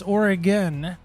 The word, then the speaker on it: Oregon: It's Oregon.